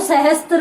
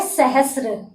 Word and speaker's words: सहस्र: सहस्र नहीं, कहीं कहीं तो सहस्त्र भी बोला जाता है, इसमें आपकी गलती नहीं है। तो यहाँ पर देखिए इसका शुद्ध उच्चारण तो होता है सहस्र और इसका होता है स्रोत।